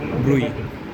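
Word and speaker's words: bruit: তাহলে হার্টে যদি সেম জিনিসটা হয় মারমার ভালভের থেকে, আর পেরিফেরিতে যে কোনো জায়গায় বলে ব্রুই বলে। টি আছে নামের শেষে, ওটা উচ্চারণে আছে, ব্রুই।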